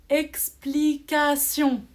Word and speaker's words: explication: Un autre exemple, explication. Comme on explique quelque chose, on dit c'est une explication. Sion à la fin, j'écris T-I-O-N. Ici, le T se prononce S.